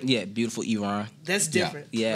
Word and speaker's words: Beautiful Eron: Yeah, Beautiful Eron.